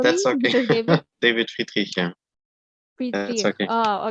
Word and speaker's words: Friedrich: Am I pronouncing it Yeah, correctly, that's okay. Mr. David? David Friedrich, yeah.